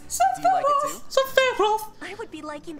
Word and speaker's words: Sephiroth: What did you say it like Sephiroth. That? That's the way they say it. That's too fucking fancy. Sephiroth. No, it's Sephiroth.